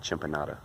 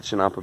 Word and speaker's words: chinampa: to the chinampa beds make sure I say it correctly this video chinampa chinampa Champa got to get it in my head not chimpan chinampa beds we're walking out here to the chinampa beds and going to